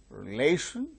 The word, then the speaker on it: relation: Relation, second syllable gains stress.